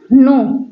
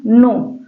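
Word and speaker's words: know: एन देखे होंगे तो वहां पर के साइलेंट होता होगा जैसे हुआ नो नो नो मतलब होता है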